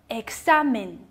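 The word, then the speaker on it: examen: 所以合在一起读作。examine, examine, examine，没错，它就是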